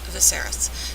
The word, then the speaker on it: Viserys: viserys viserys another person who nobody's nobody can pronounce their name it's viserys but anyway um she's talking about them going